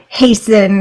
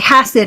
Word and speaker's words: Hassan: and they're good so I would say Hassan it rhymes with fasten fasten your seatbelt it's